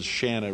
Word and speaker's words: Shanna: she's somehow skimmed through there's a Shanna rhymes with banana she gets here playing